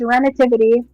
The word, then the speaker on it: Renitivity: But um uh Renativity, it is pronounced Renativity.